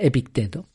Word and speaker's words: Epicteto: No sé por qué le doy el acento en Epicteto, parece que suena un poco más griego, ¿no? O algo así. Pero bueno, creo que debe pronunciarse Epicteto.